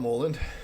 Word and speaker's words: Mouland: Um so, my name is Mullen, um often pronounced as Mullen, and either's fine.